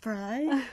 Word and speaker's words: Frey: It's pronounced Frey.